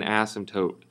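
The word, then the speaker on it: asymptote: call that x-axis in ASM toote again the way that we say that the p is silent it's called an ASM toote what that means is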